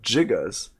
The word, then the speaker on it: gigas: It does come from the Greek root gigas. That Greek root is pronounced with a J sound, not a G sound, for gigantic.